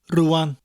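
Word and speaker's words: rŵan: Another good word is Rhan, which means now. Rhan. Rhan. It sounds like you've got a kangaroo that you've named Anne.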